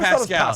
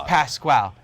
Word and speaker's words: Pascal: It's not Pascal. He's like, "No, it's it's it's Pasqual."